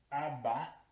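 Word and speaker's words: אבא: Aleph Beit, que se pronuncia Abba, ya han escuchado eso antes, quiere decir padre.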